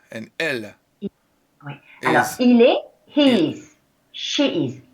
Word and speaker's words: il est: So, il est. The T is silent. No, silent T. Il est. Il est. Oh, il. Just il. No, il est. And Il then you can est. make it like one.